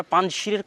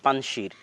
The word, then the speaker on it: পাঞ্জশীর: আমরা পাঞ্জশীরের কথাটাও বলতে চেয়েছিলাম যে পাঞ্জশীর বা আমাদের বাংলায় লেখে পাঞ্শির। কিন্তু সঠিক উচ্চারণ হচ্ছে পাঞ্জ।